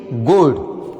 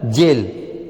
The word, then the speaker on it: gel: में ई है तो यहां गेल नहीं होगा, GEL जेल, GINGER ginger, SURGE surge, MESSENGER messenger, WAGER Vaser, GNDR gender, STRATEGY strategy, ENERGY energy, DIGIT digit.